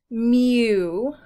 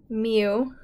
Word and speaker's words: mu: letter Mew it's pronounced Mew almost like a kitty cat Mew it looks like a